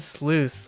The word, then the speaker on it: sluice: And sluice is juice with SL. Like juice and then replace the J with SL.